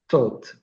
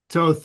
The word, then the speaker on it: Thoth: connection with the god Thoth and the Giza Plateau. I mean, Toth is Thoth. How there's so many different pronunciations of it, of the wise one.